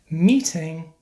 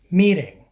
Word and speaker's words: meeting: result of lazy speech as a general rule when T is between two vowels it is pronounced like a fast D sound to many Spanish speakers